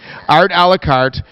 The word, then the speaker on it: Art A La Carte: Art A La Carte.